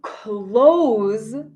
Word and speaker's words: close: The word close has a Z sound. Close, close. So you see an S, but the sound in English is similar to a Z.